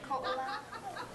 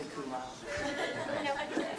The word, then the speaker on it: Ko'olau: Ko'olau. Ko'olau? Ko'olau. You can just say Kulau.